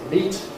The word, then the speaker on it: meat: Meat is meat, rhymes with your feet.